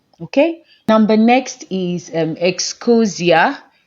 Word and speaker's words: Ecosia: Excosia, I don't know if that is how it is pronounced, Excosia or Excosia, whichever, but I like you to just say it so that you don't make a mistake. Okay, um okay, yeah, okay, it is Ecosia.